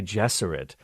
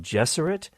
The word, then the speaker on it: Gesserit: It is no accident that the pronunciations of Gesserit and Jesuit are similar, as he envisioned his maternal aunts and the Bene Gesserit of Dune as female Jesuits.